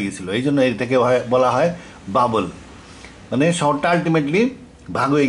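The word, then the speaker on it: بابل: হিসেবে বাইবেলেও লেখা আছে ব্যাবিলন ইংরেজি উচ্চারণ আরবিতে বলে বাবেল বাবেল কেন বলে বাইবেলে আছে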